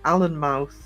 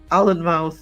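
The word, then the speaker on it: Alnmouth: There's an Allen mouth. And that's that confuses everybody because we say an we don't pronounce the L. Allen mouth you do pronounce the L.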